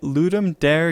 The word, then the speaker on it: Ludum Dare: going to be playing my ludum dare game or ludum Dar however you want to pronounce it it's called Griffin card